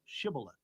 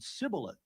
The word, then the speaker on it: Shibboleth: said they unto him, Say now, Shibboleth. And he said, Sibboleth, for he could not frame to pronounce it right.